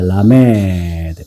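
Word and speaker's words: לָמֶד: 라메드는 자 라메드 요렇게 돼요. 요게 바로 라메드입니다. 라메드는 숫자값이 뭘까요? 30 30입니다. 그래서 라메드 라메이라기도 읽기도 하고 보통은 라메드라고 있습니다.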